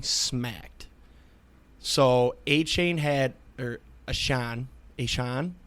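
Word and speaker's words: Achane: Devin, is it A-Chain? How do you say it? Devon A-Chan.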